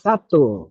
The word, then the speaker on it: sattva: Sattva is pronounced Sato in Tibetan.